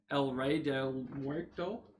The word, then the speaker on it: El Rey Del Muerto: connor i am andrew and tonight we're building el rey del muerto i passed that off because i didn't know how to pronounce it i took two semesters of spanish